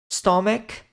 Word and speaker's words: stomach: Lever kidney Show in stomach o ch em inglês nessas palavras Aqui nós temos um som como se fosse de um k stom estômago Brain Blood